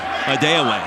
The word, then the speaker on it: Adeoye: And for the record, he just informed everyone here in Logan yesterday his last name is pronounced Adeoye. So if you're used to hearing something else, that'll explain it for you.